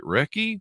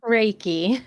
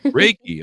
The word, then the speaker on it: Reiki: others heal including I'm not sure if I'm pronouncing this right recce Reiki Reiki okay meditation sound healing hypo hypnosis I clearly